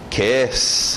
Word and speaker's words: kiss: Kiss, aquele I aberto, som de E.